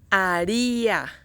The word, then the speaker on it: haría: Haría, haría in Spanish. This word has three syllables. A first, ri second one, a third one. Haría, the stress goes in the second one, second syllable.